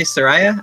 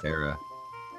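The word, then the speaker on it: Saria: So we have, I say Soraya. I'm thinking that's how you pronounce it. I say Sarah. That's what I've always said.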